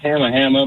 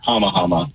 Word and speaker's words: Hamma Hamma: The place is Hamma Hamma, but the company, like the oyster company, is Hama Hama.